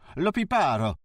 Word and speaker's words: Liparo: Liparo? He corrected, stressing the penultimate syllable.